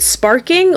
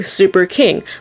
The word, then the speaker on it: Sparking: it's actually both so when you translate this new text here it literally translates to Super King but when you pronounce it especially with a Japanese accent it sounds like sparking so you can either say it either way or just pronounce it sparking or just pronounce it Super King but you're correct either way I'll be pronouncing it